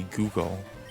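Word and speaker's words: googol: there's a number called a uh a google which is it's not spelled like as google like the search engine it's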